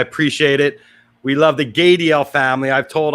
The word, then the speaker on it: Gadiel: it we love the gay DL Family I've told I butchered your name so I was told rhymes with radial that's somebody getting work